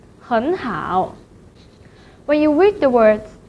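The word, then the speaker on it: 很好: third tone syllable, so the word 很 should be changed to the second tone, 很, 很好.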